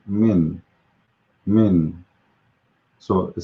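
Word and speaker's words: من: we pronounce it simply it's two letters letter m and n if we break it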